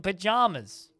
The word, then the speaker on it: pajamas: But in the song, they pronounce it bananas in pajamas. So that it sounds like it actually rhymes instead of saying pajamas. It's not pajamas, it's pajamas.